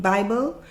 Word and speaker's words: bib: And so if you're saying the word Bible, the word is bib. Bib. Bib. So how do you say Bible? Bib. There we go. There you go.